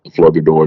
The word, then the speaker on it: Flogador: That's the actual full name of the planet, Flogador. The G is silent.